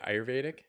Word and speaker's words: Ayurvedic: And sidebar, I just want to say the fact that you mentioned Ayurvedic. How do you say it? Ayurvedic?